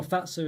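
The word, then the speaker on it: Fazer: Yes, a phase one. I'm always going about phase, or Fatsa as I believe it's pronounced.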